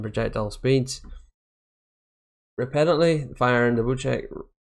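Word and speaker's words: Bocek: Bowcheck is a new weapon, and it is pronounced Bowcheck.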